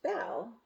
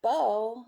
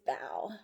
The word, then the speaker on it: bao: how you pronounce it b-a-o is not pronounced bow like a bow tie or a hair bow you see how the kitty is wearing a bow so b-a-o is bow that's how you pronounce